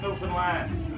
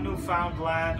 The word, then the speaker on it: Newfoundland: That is pronounced Newfoundland, not Newfoundland or Newfoundland.